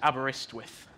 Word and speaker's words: Aberystwyth: But the pronunciation is Aberystwyth.